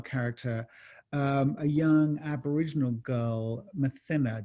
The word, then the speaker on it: Mathina: a young Aboriginal girl, Mathina. Did I pronounce that right? Is that? That's the way I pronounce it too.